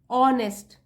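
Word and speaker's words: honest: trust वर्दी और ऑनेस्ट ऑनेस्ट जो होता है वह साइलेंट होता है उसको हम उच्चारण नहीं करते हैं यहां से शुरू करते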